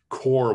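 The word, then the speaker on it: Qor: really great product and core is spelled q-o-r you are okay but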